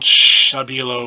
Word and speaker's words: Stabilo: is the these are Stabilo or Stabilo which i think is how it's pronounced because it's a German company and I saw a video of the factory where they make them or whatever and it's been on shabby yellow with like an SH kind of sound which sounds kind of funny to me but that's the way it's pronounced sociable oh these are